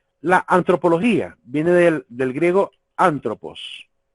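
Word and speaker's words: ἄνθρωπος: La antropología viene del griego antropos. Es antropos, así, antropos, que en griego significa hombre.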